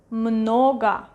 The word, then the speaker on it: много: Много, много, много. Stress is going to this O, so we pronounce it clearly. Много, много, and this one is A, много.